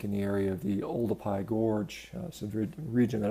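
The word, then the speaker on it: Oldupai: the area of the older PI gorge so the region that I've actually visited and a lot of people call it sort of Olduvai but it's actually old a PI which was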